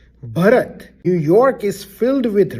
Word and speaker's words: Bharat: This is not Bharat. I understand you want to attend the Indian wedding and you're dying to do that, but that's not what we are talking about. This is someone's name and it's Bharat.